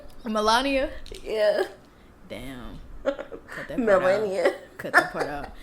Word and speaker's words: Melania: Melania? That's how it's spelled. Eric. It's Melania?